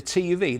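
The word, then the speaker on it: TÜV: They call it the Tuff, don't they? That's how they pronounce it, Phil, don't they? The TUV. They say Tuff, even though it's clearly a V.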